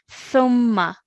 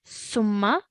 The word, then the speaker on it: ثم: Everyone, remember for this sound as well, we take the tip of our tongue and touch it to our top 2 teeth, okay? Thumma, not summa, thumma, which you did really well there to pronounce correctly.